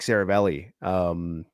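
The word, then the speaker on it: Seravalli: But you had people like Frank Saravelli. That's how you pronounce his name correctly.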